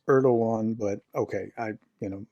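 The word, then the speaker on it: Erdoğan: a friend of Russia he's a friend of erdon and turkey and it's erdogan but okay I you know Mis pronounced all kinds of things he will if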